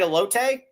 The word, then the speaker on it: elote: They got very nice TV setup, and you can go in there and you can order the free elote rib. Did I say it right, elote?